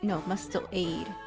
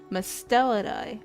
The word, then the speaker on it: Mustelidae: Mustelade. Mustelade? I need Google to pronounce this. Oh. Hold on. Musteladae. Oh, Mustelida. I said that completely wrong. I said that so wrong. Mustelidae.